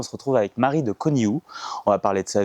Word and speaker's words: Conihout: Je m'appelle Robin Gervet et on se trouve aujourd'hui avec Marie de Coniut. Est-ce qu'on dit comme ça ? Alors, on prononce pas le thé. Merde. OK. Marie de Coniu.